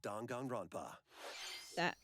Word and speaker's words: Danganronpa: A dark fantasy mystery abounds from the creators of Danganronpa. Is that how that's pronounced?